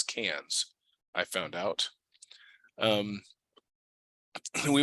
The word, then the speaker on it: Cairns: put in it uh what I always thought was Cairns but which the Australians pronounce as cans I found out um